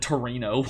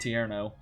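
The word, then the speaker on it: Tierno: got into a battle I don't know why I said Torino um I'm pretty sure it's pronounced tiero but uh yeah what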